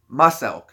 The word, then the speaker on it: Muselk: But I watch Muselk, if you guys aren't familiar with him. But it's spelled like Muscle K, Muselk, E-L-K, Muselk.